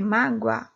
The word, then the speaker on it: mágoa: Mágoa é escrito com O, porém eu representei com W, porque nós pronunciamos o quê? Mágoa, o som de U, não é isso?